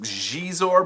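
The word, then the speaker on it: Xizor: would love to see jizor or zizor or you know i think i think it's supposed to be pronounced jeez or but x-izo like the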